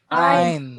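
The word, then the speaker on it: ע: Ein, Ein is again a silent letter and its transliteration is reverse apostrophe.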